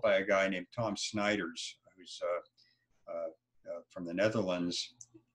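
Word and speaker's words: Snijders: program is developed by a guy named Tom Snyder's from the Netherlands s NIJ ers is the wave pronounced he spells his last name and Tom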